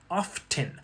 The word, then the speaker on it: often: So, the word often historically has had a silent T for the past few hundred years. It's the same silent T we see in words like soften, whistle, castle, et cetera. But, you've probably heard some people pronounce it as often, and that's through spelling pronunciation.